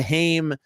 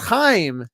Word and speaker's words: Haim: That's the Haim. It's not Haim. It's not Haim.